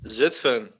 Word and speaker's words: Zutphen: Zutphen. Zutphen.